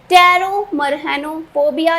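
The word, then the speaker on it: Pteromerhanophobia: टेरोमरहेनोफोबिया, जिसमें कि पी क्या है? साइलेंट है।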